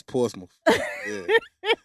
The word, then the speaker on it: Portsmouth: to say it go ahead say it it's portsmouth sound like you're saying it with an